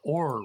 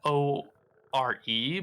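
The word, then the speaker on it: Orre: It's it's written O-R-E, but it's like pronounced a weird way. Mm. I think it's Aura. Because I know it's not Or. Because I remember specifically being like, why isn't it just Or region?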